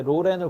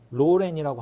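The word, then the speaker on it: Lauren: 이게 그 뭐가 있냐면 로렌이라는게 발음이 두 개라 그래요. 뭐 앞에다가 로렌이라고 하 하는 발음이 있고 뒤에 랜에다 프랑스처럼 약간 로렌 이렇게 하는게 있대요. 그래서 그 사람들이 항상 인터뷰할 때도 물어봐요. 어떻게 발음하는게 맞냐. 그래서 이름을 바꾸고서도 어떻게 발음하냐를 그 트라우마는 계속 이어졌다. 계속 이어졌다. 예. 그이 인생과 뗄 수 없는 거였군요. 네. 근데 앞에다 로렌 하는게 맞다 그러더라고요. 네.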